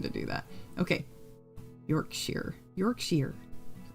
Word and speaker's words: Yorkshire: Yorkshire. Yorkshire. Okay. I'll get it. I'll get it. I'm sorry. Uh, the ending in Yorkshire is the same ending as in Worster.